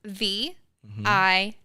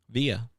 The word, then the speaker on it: Via: V I A Via. It was VI, but I was called Via my whole life.